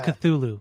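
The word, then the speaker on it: Cthulhu: Song is call of culu chulu chutu yeah call Chutney Kulu I always say culu culu it's cthulu cthulu I think I think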